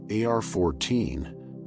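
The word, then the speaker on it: arXiv: For those less familiar with how scientific research gets shared, AR-14, pronounced like the word archive, is an online repository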